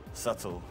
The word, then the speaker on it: subtle: out there but uh subtle subtle the B is silent and subtle final answer yes lock